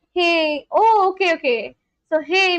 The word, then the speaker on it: hej: J pronounced as Y. Hey.